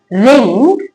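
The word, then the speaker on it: wring: जब वर्ड में डब्ल्यू के बाद आर हो या फिर डब्ल्यू के पहले एस हो। दोनों ही कंडीशन में डब्ल्यू साइलेंट रहता है। क्या लिखा है? आंसर रिंग रोंग रेस्ट।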